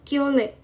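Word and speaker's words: 켤레: Jadi undonghwa cangkap yang mal itu karena mereka sepasang, bacanya adalah kyole, pasang.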